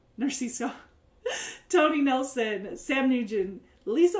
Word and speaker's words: Narciso: Dennis McCubbin, Greg Narcisco, I always say Narcisco, I say it wrong, Narciso, Tony Nelson, Sam Nugent,